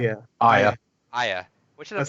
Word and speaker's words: Aya: Aya.